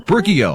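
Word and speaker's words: Brookie-O: brook the brookie oh brookie oh i said it right i had to phonetically sound it out like i was on the electric company back in the day brew key oh rookie oh you know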